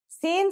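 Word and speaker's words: سين: let's start with scene scene sounds just like the English s it's very easy to pronounce let's see how it's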